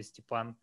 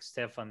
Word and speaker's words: Stepan: name and uh uh some people try to try to you know to to pronounce it correctly stephan uh others uh try or not try uh i i sometimes sometimes some of the customers for example write to me like stefan and then they send